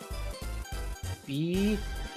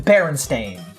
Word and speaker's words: Berenstain: Bearnstain. You would be wrong. While you are correct that it ends in S-T-A-I-N, it begins B-E-R-E-N. There is no word bear within Berenstain. It's It's Berenstain. B-E-R-E-N. Berenstain.